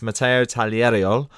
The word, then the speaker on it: Tagliariol: fencing our first fencer on the show it's Mato taler I had to practice that name before I